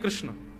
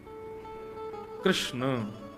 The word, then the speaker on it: कृष्ण: है बुद्धि एकाग्र नहीं कृष्ण कृष्णा नहीं कृष्ण ठाकुर जी का नाम कृष्ण रखा गया अब तो